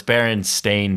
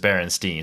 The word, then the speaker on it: Berenstain: Spell that? It's probably like bear because it's Baron. So BEARANSTEIN. It's Berenstain Bears, but everybody remembers it as Berenstein, so it's Stain at What?